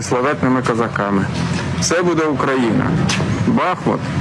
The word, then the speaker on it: Бахмут: козаками все буде Україна Бахмут - це Україна Бахмут - це Україна або Бахмут - це Україна якщо правильно наголос ставити і справді бачимо є